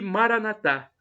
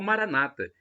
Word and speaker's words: Maranatá: E Maranatá, do dialeto de Jesus, o aramaico, com a tônica na última sílaba, como dizemos nós católicos, ou Maranata, com a tônica na penúltima sílaba, como dizem os nossos irmãos evangélicos ou protestantes.